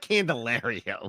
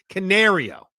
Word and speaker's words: Canario: pronunciation down completely well Canario it's oh there it is like a canary yes it's like a canary when they made the